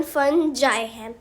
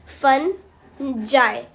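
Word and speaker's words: fungi: हो बहुत कुछ है पर इसकी असली प्रोनाउंसिएशन फन जाए फन जाए फनजॉय से याद करो फन जाए [गला साफ़ करने की आवाज़] देखो मैंने ने स्पेलिंग्स कहां से याद किए?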